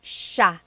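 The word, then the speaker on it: siya: and another tip uh just about pronunciation it's sha sh sh the SI i y combination makes that sh sha sound it looks like it should be pronounced s there are some regions in the Philippines I believe that say but usually in the Central Luzon area it's pronounced Sha Sha then there's Sila they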